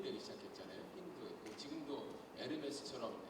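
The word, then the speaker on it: Hermès: 지금도 에르메스처럼 H 발음 안 되죠.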